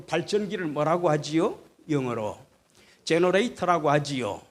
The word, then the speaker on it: generator: 영어로 제너레이터라고 하지요. 옛날 우리 연세 높으신 어르신들은 제네레타 뭐 그렇게 발음하시대요. 일본식 발음으로. 제너레이터, 그게 GENERATOR, GEN이 바로 발생, 전기를 발생시키는 장치다.